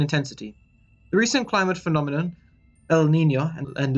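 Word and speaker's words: El Niño: The recent climate phenomenon, El Nino and La Nina, which is how you pronounce them, will also increase in intensity and cause more havoc in the Pacific.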